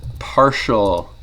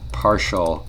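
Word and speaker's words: ∂: this is pronounced is partial F partial X so that weird curly D is pronounced partial because oh so for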